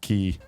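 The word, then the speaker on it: χ: I've heard people say it's key, but I don't know. I don't really understand. They renamed the X. It's key. They should spell it Key.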